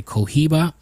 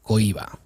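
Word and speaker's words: Cohiba: in English they say Kiba but it Fs in Spanish it's pronounced Goa H is silent so whose Journeys from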